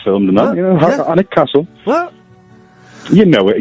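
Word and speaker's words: Alnwick: of this town Simon because there will be anic in theand anex a a l n w i c k you know it's where Harry Potter was filmed and that you know anic Castle what you know it Ian how you've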